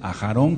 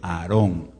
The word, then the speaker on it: Aarón: aclarado de una vez aharón quiere decir último a gerona quiere decir última entonces el nombre correcto es aarón aaron o men si